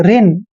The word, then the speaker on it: reign: आर का उच्चारण हम रे पढ़ेंगे और EIGN को इन पढ़ेंगे। देखिए रिन, रिन क्या होता है?